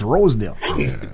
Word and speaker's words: Rosedale: But the reason why people don't really know that it's Rosedale because like what Blackz would do, when that part comes up, Blackz says Rexdale.